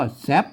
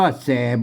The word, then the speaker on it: แส๋บ: นะ ครับ อืม ก็ อ่าน ว่า ตาม หลัก ภาษา ล้านนา นะ ครับ เฮา ก็ อ่าน ว่า แซ่บ นะ ครับ อ่าน ว่า แซ่บ นะ ครับ ไม่ ใช่ ว่า แสบ บ๊ะ นะ ครับ มา อัน นั้น